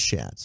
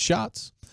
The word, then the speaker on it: Schatz: But then today, Aaron Schatz, spelled like Schatz, but pronounced like Shots. I always thought it was Schatz. I know, I did too, until I heard him say it for himself. And I was like, okay, it's Shots.